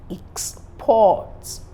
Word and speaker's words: exports: have the word exports you can also have this same word in the noun form in that case is a a kind of moving stress the e x will be stressed why p-o-r-t will be unstressed so I have exports exports that's the goods that you send away then the act of